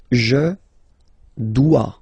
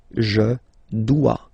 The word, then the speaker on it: dois: Je dois. Okay, remember final S is not pronounced. Je dois. OE, when you combine the two, you get the sound wa wa wa. Je dois. Okay, tu dois.